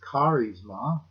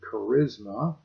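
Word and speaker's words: χάρισμα: in the handout the greek word there is karizma we might pronounce it charisma it literally means something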